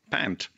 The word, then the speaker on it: Pant: Now, as if he had a point, or should we say pant, to prove. But by the way, his family name is pronounced Pant, just yes.